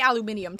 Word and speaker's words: aluminium: Okay, we don't say aluminium, to be fair. We say aluminum. It's the British who say aluminium, which is technically the correct way to say it, but it sounds goofy.